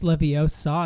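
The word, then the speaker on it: Leviosa: mean you can get it's levio saw not leio leio yes it pronun we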